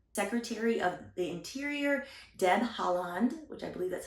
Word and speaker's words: Haaland: Secretary of the Interior, Deb Haaland, which I believe that's how you say her